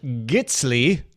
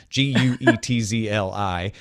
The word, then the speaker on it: Guetzli: I'm sure I'm not pronouncing that exactly right, but it's my Americanization, Guetzli. It can reduce file size by 35%, though it will compress a little slower than, say, libjpeg. Gitsly is Swiss German for cookie.